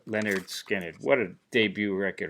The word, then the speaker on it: Lynyrd Skynyrd: than this do they Lynyrd Skynyrd and their first record pronounced Leonard Skinner what a debut record